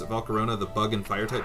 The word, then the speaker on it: Volcarona: might argue that Volcarona oh that's how you pronounce it Volcarona the bug and fire type Pokemon is the